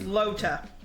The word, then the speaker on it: Lotta: Is it Lota or Lotta? How is it pronounced? Yeah. Is it Lotta or Lota? Lotta. Yeah, while you're doing that, I'm gonna fix this chat box. Lota. This shit is okay, it's Lota.